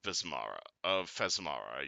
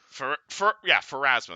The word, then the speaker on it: Pharasma: Religious artifacts of Fesmara, yes. Oh, Pharasma. Pharasma, that's how you pronounce this god, sorry.